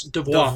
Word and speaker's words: DVOA: So it's actually from what I heard, it's pronounced the same in French as devoir.